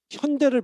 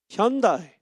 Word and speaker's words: 현대: 현대를 미국 사람들이 뭐라고 발음해요? 현다이, 그죠? 굳이 우리가 막 노노노 현대, follow me 현대.